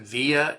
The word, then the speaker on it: VIA: It's called I I I pronounce it via. It's VIA A all in uppercase VIA character assessment, character